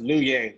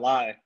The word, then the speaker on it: Luye: Anthony is pronounced Luye, Luye, not lie, Luye.